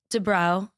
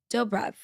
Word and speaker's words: Dobrev: Nina Dro, is that how you say it? Dov Dobrev.